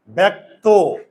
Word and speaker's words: ব্যক্ত: এর উচ্চারণ হয় না আর এই অটা চেঞ্জ হবে কিনা বলতো ব্যক্ত না ব্যক্ত ব্যক্ত মুখের চোয়াল খুলে না বুঝে থাকে আর মুখের চোয়াল যদি না খুলে তাহলে ও এর উচ্চারণ ওকার হয়ে যাবে ব্যক্ত এটা যদি পারো